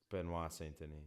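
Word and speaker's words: Benoît Saint-Denis: um BSD fight um Ben ston right that's how you say his name benois ston wow Ben ston benois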